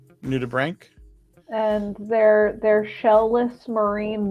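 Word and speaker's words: nudibranch: hold on it's uh it's spelled out like new to Branch but it's new to bring new to Brink and they're they're shell-less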